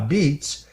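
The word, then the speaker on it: apizza: His place is called Abitz which of course is the pronunciation of uh the word pizza spelled a p I za that's how Italians say it. uh beats uh and pizza lick Nick Lano joins us now on the Roger Stone Show.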